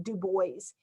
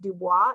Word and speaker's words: Du Bois: from this man w.e.b du bois his name looks like it would be a french name pronounced dubois it's not he pronounced his name dubois and w.e.b du bois